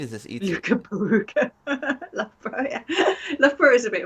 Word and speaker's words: Loughborough: Loughborough, yeah.